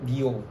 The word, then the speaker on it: Dior: Pronounce-nya yang benar kayak Dior. R-nya tuh di langit-langit gitu.